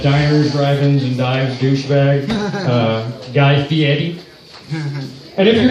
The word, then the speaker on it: Fieri: Here, we only have that one, that diners, drive-ins, and dives douchebag, Guy Fieri. And if you're not familiar with who I'm talking about, pay attention to how I pronounce his last name, Fieri.